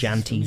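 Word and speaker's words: Jantjies: Janties.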